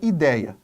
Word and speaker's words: ideia: ela não tem acento Vamos separar em sílabas a palavra ideia você tem I dei a a sílaba tônica não está aqui está Então ela é uma paroxítona terminada em a nós